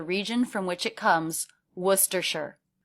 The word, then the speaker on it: Worcestershire: from which it comes, Worcestershire, where shire sounds just like the state name, New Hampshire. So we drop the first R, and the vowel in that syllable is the as in push vowel, w, w.